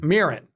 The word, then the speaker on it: Mirren: I got an envelope from them that I haven't opened, but like Helen Mirren, am I pronouncing her? Mirren. Yes.